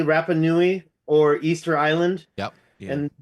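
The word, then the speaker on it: Rapa Nui: here goes to am I saying it correctly rapanui or Easter Island yep and this ancient equator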